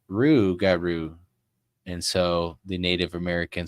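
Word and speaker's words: rougarou: over here uh they the Lop garoo when Native Americans pronounced it sounded like Ru Garo and so the Native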